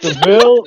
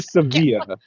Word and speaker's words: Sevilla: You said it's it's Seville or Sevilla. Sevilla. Okay. So, one of those is like the English name and one of them is the Spanish name.